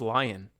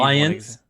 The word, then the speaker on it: Lyon: I need Lions. It's very common. I actually did. Unique in the way that my S is silent in the way that it doesn't exist.